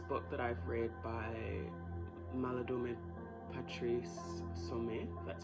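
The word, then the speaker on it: Malidoma Patrice Somé: I was getting a vision of actually this book that I've read by Maladome Patrice Sume, that's how you say his name.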